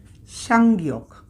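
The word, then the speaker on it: 쌍기역: এই গিয়ক একটার সাথে যে আরেকটা আমরা পাশাপাশি লিখি, তো দুইটা গিয়ককে আমরা একটা উচ্চারণ করব, একটা উচ্চারণ হবে, এর উচ্চারণটা হচ্ছে সাংগিয়ক।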